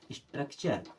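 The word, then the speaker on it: structure: चर हो गया अब एस टी आर यू सी स्ट्रक क्या हो जाएगा स्ट्रक स्ट्रक में जुड़ा चर तो क्या हो जाएगा स्ट्रक्चर क्या हो जाएगा स्ट्रक्चर स्ट्रक्चर मीस होता है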